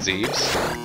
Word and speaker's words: Zebes: So, Samus, in the first game, went down to Planet Zebes, or Zebus, however you want to pronounce it, infiltrated the space pirate base, and basically destroyed all the Metroids, and blew the place up.